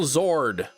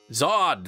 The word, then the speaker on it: Zod: General Zord. Zod.